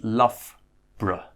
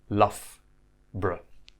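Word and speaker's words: Loughborough: put these two together the O isn't pronounced in the middle there so it's love bra love bra to places that you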